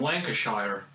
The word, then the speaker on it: Lancashire: joke Lancashire he's from Lancashire no Americans it's pronounced Lancashire bloody americ those godamn Americans